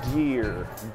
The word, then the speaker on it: gear: Essa é uma palavra que muita gente pronuncia errada. Se pronuncia gear, gear, gear.